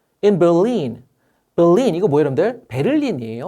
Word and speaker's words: Berlin: 베를린이에요. 근데 영어로는 벨린 이렇게 발음된다는 거 참고해 주고 독일의 수도지요.